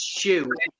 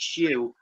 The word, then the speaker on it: Syu: Her name is pronounced Shu, but it's spelled SYU, and her chat's called Sleepless in Kalimba.